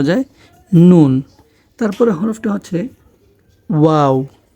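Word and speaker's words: واو: নুন তারপরের হরফটা হচ্ছে ওয়াও ওয়া উচ্চারণ করার সময় আমাদের মুখটা গোল হবে এবং মাঝামাঝি আসলে মুখটা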